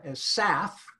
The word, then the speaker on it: SAF: your company in greater detail I mean you pronounced SAFS saff is how you do this come here yes